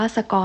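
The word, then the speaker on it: scone: ขนม สโคน นะ คะ คน ที่ นี่ จะ ออก เสียง ว่า สกอน ค่ะ ก็ จะ เอา มา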